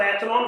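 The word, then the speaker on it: echelon: करी जिसका नाम है एक्लोन फॉर्म। ठीक है बेटा, एक्लोन form of the matrix. एक्लोन बोलते हैं कुछ लोग, इसको एचलॉन फॉर्म बोलते हैं, डजंट मैटर, स्पेलिंग की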